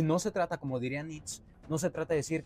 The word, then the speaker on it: Nietzsche: se dice en pinche francés, que si se pronuncia en inglés, que si... Ajá, es Nietzsche. Ajá, sí. Pero Nitz, nunca había escuchado Nitz.